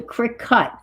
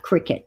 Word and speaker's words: Cricut: oh is it cricet oh it's a cric cut oh okay cric cut not cricet okay got your antb